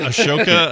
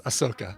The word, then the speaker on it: Ahsoka: Is it Ashoka? Ahsoka? Can you spell that? The H comes before the S, so it's Ahsoka.